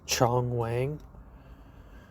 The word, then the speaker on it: Chong Wang: Oh yeah, the best joke in the film is that Jackie Chan's character's name is Chong Wang. Chong Wang. And they say it like John Wayne.